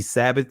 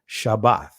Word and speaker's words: Shabbat: them the next Shabbat you see Sabbath Sabbath is the Greek pronunciation of the word Shabbat right but we see here